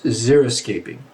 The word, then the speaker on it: xeriscaping: So the type of landscaping that we're talking about is zeroscaping. Okay? It's spelled with x e r i s c a p i n.